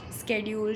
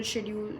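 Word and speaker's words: schedule: स्ेड्यूल शेड्यूल दोनों pronunciation मुझे पता है। तो कोई नहीं बोलेगा कि मैंने गलत बोला है।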